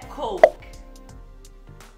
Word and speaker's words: Coke: Coke. Coke. Morre no K.